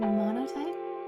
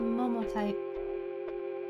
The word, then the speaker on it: Momotype: I keep thinking it's called Monotype. It's called Momotype. That's why I couldn't find the category. It's Momotype.